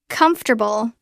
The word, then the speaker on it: comfortable: comfortable. Notice the stress is on the first syllable.